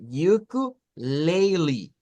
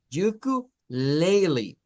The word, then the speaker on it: ukulele: solo la l pero aquí está la pronunciación alterna que es decir yuku Lily yuku Lily es otra forma de